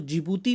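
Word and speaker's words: Djibouti: इट is Eritrea, जिबूती, ध्यान रखना इसको जिबूती प्रोनाउंस किया जाता है, इट इज़ जिबूती, एंड इट is Somalia, ठीक है।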